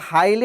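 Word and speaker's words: highly: এটা বলতে কোনটা যে পার্লামেন্ট হাউসটা এটা একটা হাইলি এক্সপেন্সিভ বিল্ডিং তাই না তাহলে কি দিব বলতো এই যে আমরা উচ্চারণ করি হাইলি হাইলি তাই না আমরা একটু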